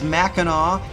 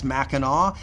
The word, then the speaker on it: Mackinac: out uh the way it's pronounced it is Mackinaw but it's spelled two different ways and on the island